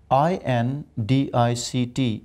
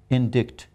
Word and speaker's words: indict: And one interesting word, I-N-D-I-C-T. If you ask any Pakistani, he would say indict, but the word is indict.